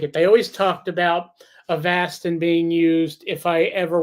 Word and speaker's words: Avastin: The second option was to go on this thing called, I call it Avastin because that's how it's spelled, but it's pronounced Avastin.